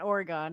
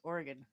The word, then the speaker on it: Oregon: no no no and it's not Oregon it's Oregon stop correcting the transplants hello